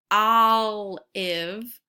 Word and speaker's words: olive: When I hear the word olive, I hear the ah sound in olive. I don't hear the O sound.